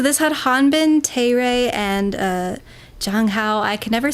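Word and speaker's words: Zhang Hao: Okay, so this had Hanbin, Taeray, and Jang Hao. I can never say his name correctly because it has a Z, but it's pronounced like a J apparently.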